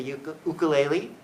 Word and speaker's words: ukulele: I like to play guitar, but my favorite instrument of late is the ukulele. That's how you pronounce it, ukulele.